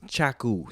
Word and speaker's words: Chaku: and it's Chaku, Chaku. Every time I say my name, they're like, "Oh, right?". Somebody said that last night, and I was like, "Damn, does it really sound like I'm saying?"